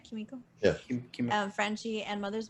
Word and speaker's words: Kimiko: They're all in there, and it's Lamplighter, Kimiko, right? Am I Kimiko. saying it right? Kimiko.